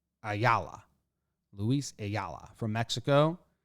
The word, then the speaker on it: Ayala: a allah i yeah la is how it that says you pronounce it on baseball-reference a yalla lewis a yalla from